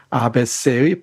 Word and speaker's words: ABC: 층이 4박 이런 뜻입니다 abc 에 벗이 라고 잊지 마시고 앞 에쎄 버티라고 읽기 바랍니다 2 프랑스 알파벳 abc